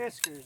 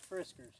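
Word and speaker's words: Fiskars: Fiskers, not Friskers. What is it called? Fiskers. Not You always Not You have a problem with pronouncing names not wrong. Friskers. Fiskers. It's Fiskers.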